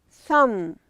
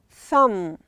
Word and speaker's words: thumb: L is silent. Bam. Thumb. We have this one. This finger is thumb.